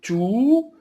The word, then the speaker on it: tout: Tout avec T-O-U-T à la fin et on ne prononce pas le T sauf s'il y a une liaison.